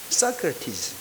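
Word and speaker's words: Socrates: 제가 USC에서 전도하면서 이 소크라테스 이야기를 좀 자주 해요. 처음에 소크라테스 하니까 못 알아듣는 거예요. 사크라티즈. 발음이 소크라테스인 게 못 알아들어요. 사크라티즈.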